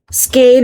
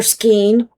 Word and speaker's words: skein: This is what it looks like close up in the skein or skeen. Player's choice on how you say it.